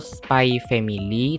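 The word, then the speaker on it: SPY×FAMILY: Dan aku sebenarnya agak bingung juga dengan cara pronounce-nya ada yang bilang cara bilangnya tuh Spy Family, tapi aku masih nggak bisa move on kalau nggak bilang Spy X Family ya.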